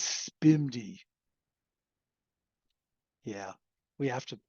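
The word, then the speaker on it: SPMD: program multiple data which which gets pronounced as spimi yeah we have to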